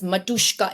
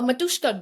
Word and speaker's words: Matryoshka: model and this type of embedding known as Matryoshka embedding model. Are you aware of it? No. It's been, since I've heard about it, I have been stuck on it. So a Matryoshka doll, I'm not even sure if I'm pronouncing it right.